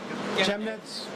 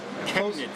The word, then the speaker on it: Chemnitz: Am I pronouncing that right? Chemnitz? Chemnitz.